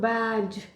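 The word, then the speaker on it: badge: वैसे ही मैं एक और एग्जांपल देती हूँ, बैज। इसमें पूरे डी जी ई को हम ज प्रोनाउंस करेंगे। ठीक है, जी ई तो है ज और डी साइलेंट रहेगा, तो ये कितना क्या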